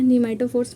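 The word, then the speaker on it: pneumatophores: फिर न्यूमेटोफोर्स, ठीक है, तो ये क्या है, न्यूमेटोफोर्स में पी साइलेंट होता है।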